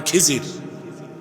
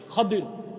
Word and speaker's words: খাদির: আপনারা বলেন খিজির, কিন্তু নামটা হচ্ছে খাদির। কি নাম? খাদির। আমরা বাংলায় বলতে বলি খিজির, এটা ভুল উচ্চারণ। শুদ্ধ উচ্চারণ হচ্ছে খাদির।